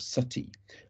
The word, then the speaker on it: sati: was the practice of sati um normally written nowadays s-a-t-i although in victorian writings you often see it spelt in the way i've put in brackets and certainly that's closer to how it's pronounced and this is the